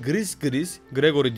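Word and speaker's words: Gris-Gris Gregory: sahibi evcil voodoo bebeği gris gris gregory diye okunur hiç peşinden ayrılmaz elementleri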